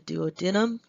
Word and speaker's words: duodenum: opens up into the duodenum it can also be pronounced the duodenum there in the very